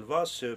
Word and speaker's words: vase: Parfois, pour bien remarquer, parfois, nous avons le S qui se place entre deux voyelles. Alors là, elle va se prononcer Z. Par exemple, le vase. Le vase. Regarde, nous avons S entre deux voyelles. Quand on a la lettre S entre deux voyelles, alors ça va se prononcer ze et ce n'est pas ce, d'accord?